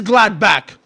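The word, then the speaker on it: Gladbach: It is gladback.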